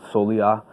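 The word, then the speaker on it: soleá: It's based on there's a flamenco standard called Solia, which is spelled Solea, and it's like just a real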